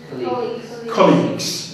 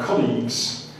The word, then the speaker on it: colleagues: got this one here how did you say this colleages yes so pronunciation would be it's difficult to do this because this board joins my R together but this is an an on so colleagues now colleagues is good because you can use